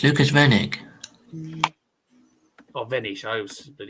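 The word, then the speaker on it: Lukas Wenig: The world 78 Lucas Vanish is going to go headtohead with Nico Springer.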